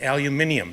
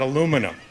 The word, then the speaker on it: aluminium: I said he said you're saying it wrong I said we're saying what wrong it's aluminium not aluminium so that was my